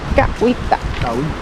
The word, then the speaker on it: Cahuita: it right yeah because you don't pronounce the h uhita I really like it